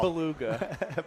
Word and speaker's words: Bulaga: They spelled it Bulaga. Bulaga. Well, that's not what he said on Sunday Night Football. Beluga.